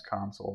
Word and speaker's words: Console: My last name's Console, by the way. It's actually Console, but it's spelled like console.